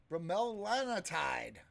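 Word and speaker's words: Bremelanotide: Bromelanotide.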